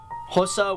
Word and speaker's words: Xhosa: Those are English, Afrikaans, Indebele, Pedi, Sotho, Venda, Xhosa, and that is Xhosa with a click, that's how you pronounce an X, Swazi, Tsonga, Tswana, and of course Zulu, with Zulu being one of the most spoken languages.